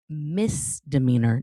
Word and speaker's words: misdemeanor: Miss demeanor, not Miz. Miz is spelled M S, right? Like MS period. Like Miz, but I'm Mrs. See how the S just flows off? Okay, it is misdemeanor, not misdemeanor.